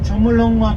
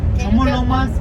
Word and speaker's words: Chomolungma: So at the base camp, at the roadside, they mention Mount Chomolungma base camp. It never mentioned the Mount Everest. Chomolungma spelled with a Q.